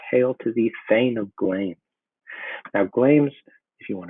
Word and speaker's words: Glamis: You can see the word sometimes has two syllables, but usually it's only one, as in here. Here, it's just one syllable. It's Glamis, the Thane of Glamis.